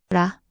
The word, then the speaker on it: 라: Example with the vowel a, this forms ra, pronounced la. 라, 라.